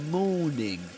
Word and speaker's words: morning: southern standard British English, the letter this letter R, the sound r is not pronounced right before consonant sounds. That's why morning is not pronounced. But this is not the case in other accents like American English.